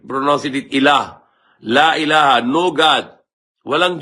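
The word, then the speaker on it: إله: Alif, Lam, Ha. Equivalent to Arabic English, A, L, H. So we pronounce it Ilah.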